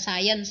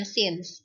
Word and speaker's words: since: bacaannya since the member bacanya bukan science ya dibacanya since kalau since artinya sejak